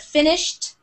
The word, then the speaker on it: finished: a d sound but finished it sounds like a t at the end finished and walked it's